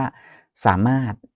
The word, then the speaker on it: สามารถ: พยัญชนะ ท้าย นะ อย่าง เช่น คำ ว่า เพชร นะ ครับ ร เรือ ก็ ไม่ ออก เสียง เกษตร ร เรือ ก็